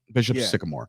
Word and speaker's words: Bishop Sycamore: Bishop Sycamore.